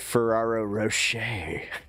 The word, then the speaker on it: Ferrero Rocher: They're so Wait, I thought it was F Ferraro Rocher. Like I thought you had to say it like with a little bit of the uh pretentiousness of French.